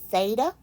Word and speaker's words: theta: Okay, that's pronounced theta.